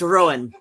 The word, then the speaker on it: Ruadhán: It's pronounced Rowan.